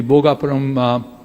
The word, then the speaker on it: Bhogapuram: And precisely what SAP or the Seletar Aerospace has done, we can do the same thing in the Bhogapuram Aerotropolis, that's how it's rightly pronounced.